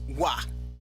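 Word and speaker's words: は: That particle is wa written as ha but spoken as wa.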